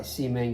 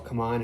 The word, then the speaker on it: CMON: lorenzo il magnifico um it's by c-man game simon games and or come on however you want to pronounce it i think it's i pronounce it c1 and uh it's by